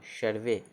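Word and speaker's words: survey: तो एस यू आर भी यू वाई, आर भी हो तो क्या होगा, सर्वे, एस यू आर भी यू वाई सर्वे, ठीक।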